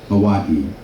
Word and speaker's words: Hawaii: Hawaii. So the I is pronounced as an E.